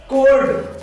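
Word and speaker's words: cold: जैसे कोल्ड, यहाँ D के पहले L आ रहा है बट L साइलेंट नहीं होता क्योंकि L से पहले O आ रहा है।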